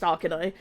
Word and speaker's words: Auchenai: The Auchenai, pronounced Auchenai, are the original guardians of the Draenei Death City of Auchendown and Terakar Forest.